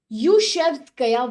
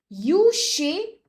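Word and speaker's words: Klyuchevskaya: Yushevskaya volcano. Let me write down the name for more clarity. It starts with K, but the KL is silent here, as most names are from this region. Yushevskaya volcano.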